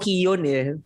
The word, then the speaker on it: Keoghan: Keon daw. Keon ang pronunciation niya.